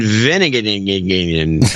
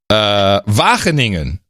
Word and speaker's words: Wageningen: Ivar Vandervelde in Veningen, Netherlands. Hold on. Wageningen.